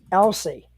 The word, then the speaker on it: Elsey: couple weeks guys I am talking about Mitchell Elsie and I hope I got your last name pronounced right yep you got it right you're